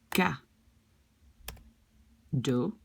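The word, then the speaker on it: cadeau: mix the word a present which you will pronounce like ka do like this okay and gato gatu here which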